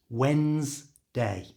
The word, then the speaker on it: Wednesday: going on Wednesday and this word seems to cause a lot of problems for English language students I think because of the way it's spelled so if you have to say this just imagine it spelled like this no D and no e so so it's just Wednesday Wednesday you try it's easy